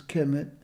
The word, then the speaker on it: Kemet: Ancient Egyptians referred to their homeland as Kemet, conventionally pronounced as Kemet.